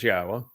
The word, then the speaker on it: Yahowah: with the following words yahwah yes it says yahwah which is the proper pronunciation of yahweh's name our eloah God as